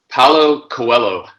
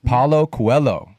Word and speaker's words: Paulo Coelho: Paulo Coelho. Paulo Coelho.